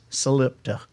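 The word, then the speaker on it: Salitpa: a town nearby and it's named sole it paw it is spelled s al IT PA slip so Sam I'm missing my so Selita is how it is spelled that's how the sign welcome to soul it PI but everybody in the area says salute I don't understand how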